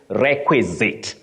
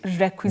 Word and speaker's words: requisite: to pronounce that word so this one you say requisite requisite just like prerequisite not prerequisite okay all